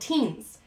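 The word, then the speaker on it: ctenes: they have what's called teens so again i'm i'm not pronouncing the c it's not teens right i'm just pronouncing the t the c is silent so it is considered 18.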